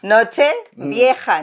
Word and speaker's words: Nochevieja: old night. old night. Nochevieja. No viaje. Vieja.